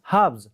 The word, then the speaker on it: halves: the first word highlighted here is hubs h-a-l-v-s hubs how do you pronounce it h a l v e s